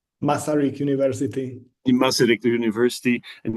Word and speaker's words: Masaryk: He's assistant professor at the University of, how do I pronounce it correctly? Masaryk University.